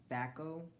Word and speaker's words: phaco: And she invented the laser, I'm calling this laser phaco, because PH usually is silent, or stands for the F, so it's the laser phaco.